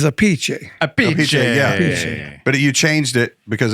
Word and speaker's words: Appice: just found out you're the way you really pronounce your name is AI right yeah Ace well a piece aie the Italian is a piche a but you changed it